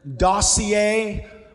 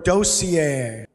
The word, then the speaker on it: dossier: Speller number 6, there are two, I have heard two pronunciations for the following word. Please listen to both of them. Dossier or dossier?